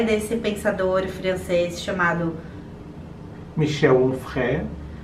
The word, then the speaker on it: Michel Onfray: Um que se chama O Ventre dos Filósofos, que é desse pensador francês chamado Michel Onfray. Com essa pronúncia, porque eu provavelmente diria Michel Onfray, mas não é, porque ele é francês.